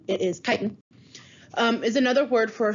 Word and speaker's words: chitin: all right chitin and that's how this is pronounced it's not chitten it is titan um is another word for stroke structural polysaccharide